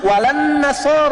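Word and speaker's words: وَلَا النَّصَارَىٰ: Cuman kita bacanya pakai eh kan alif lamnya syamsiah tuh ya. Lamnya masuk ke nun. Walan nasar. Padahal itu tulisannya la. Wala anasara. Yahudi.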